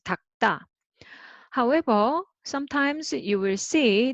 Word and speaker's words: 닦다: you read it together, but make it tense. So 닭다, 닭다, you read it as 닭다.